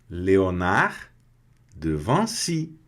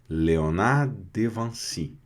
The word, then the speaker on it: Léonard de Vinci: Léonard de Vinci. A pronúncia em francês, que no caso a gente conhece como Leonardo da Vinci, né? Léonard de Vinci.